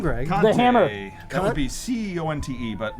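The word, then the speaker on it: Conte: is your last name Greg that would be c o n te but like you could pronounce it kti which some do like this jerk and uh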